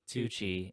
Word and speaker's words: Tucci: because it sounds because it rhymes stanley tucci and house of gucci oh my god